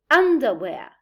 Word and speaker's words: underwear: but we say supermarket star but we say co-star where but we say underwear way but we say subway part but we say counterpart link but we say hyperlink so these prefixes we have here would take this the primary stress well now we're going